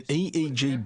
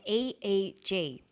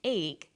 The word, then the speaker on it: EEG: or an acronym an eeg brain scan helps answer that say the swinburne researchers he says an e e g that's an abbreviation we don't pronounce it egg we say e e g eeg stands for electroencephalograph